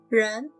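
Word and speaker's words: 人: see some more radicals run means human use r plus the end of the sun it sounds like now make it the second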